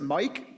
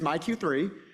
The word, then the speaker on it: MyQ3: So we developed this website called MyQ3, and I have to admit, I always look at it and try and pronounce it Mike, but it is MyQ3.